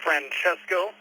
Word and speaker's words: Francesco: Hey, yeah, so it's pronounced Francesco. Don't worry, everybody gets it wrong. I always get Francesco. That's what everybody always pronounces my name as.